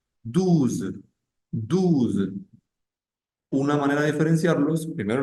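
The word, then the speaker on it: douze: allá de eso está en el 12 pronunciamos esa Z al final en el dos no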